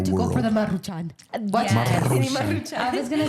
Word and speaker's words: Maruchan: Maruchanes? That's how you say it. Maruchan? Maruchan. It's 2 R's.